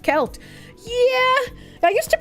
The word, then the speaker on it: Celt: I say things wrong however uh selt is pronounced kelt yeah I used to pronounce it kelt and